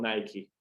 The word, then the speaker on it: Nike: A não ser que seja nome próprio. Como em Nike, na marca Nike. Eles falam Nike.